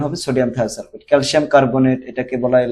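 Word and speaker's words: sodium thiosulfate: যেমন hypo hypo তাহলে সোডিয়াম থায়োসালফেট কি এটার উচ্চারণ হবে সোডিয়াম থায়োসালফেট ক্যালসিয়াম কার্বোনেট এটাকে বলা হয় লাইমস্ট স্টোন তারপরে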